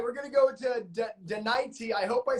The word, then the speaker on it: Denise: Denise.